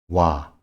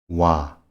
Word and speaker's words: 와: 와, 와. This is a combination of the basic vowels O and A. 와 is pronounced like the initial sound of words wide or wire.